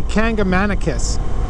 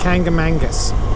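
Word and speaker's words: Kancamagus: Some people say Kangamanicus. That's not the way you pronounce it. It's Kangamangus, okay?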